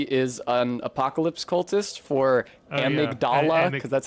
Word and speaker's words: Amygdala: Like how in Bloodborne, he is an apocalypse cultist for Amygdala, because that's how they pronounce that.